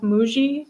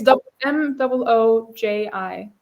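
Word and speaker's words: Mooji: you on Instagram later I think it's mou oji that's how his name is pronounced but he's yes he's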